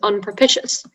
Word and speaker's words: unpropitious: the information please sure the only pronunciation is unproficious adjective from middle english it